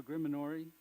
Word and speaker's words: Grimoire: This is, first of all, how do you pronounce? No, Grimoire.